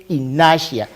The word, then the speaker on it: inertia: pronouncing it has inertia it's not inertia that is inertia say in nasha nasha good inertia is